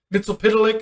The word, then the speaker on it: Mxyzptlk: Mxyzptlk or Mxyzptlk, as they pronounced it in the CW verse.